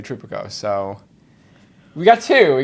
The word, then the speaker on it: Tripicchio: but the you know in the Old Country it's tripikio and I just grew up with the Americanized version and I keep I keep saying I'm gonna start saying tropicio because it's just like spelled like Pinocchio and it's just easier for people to get but then I always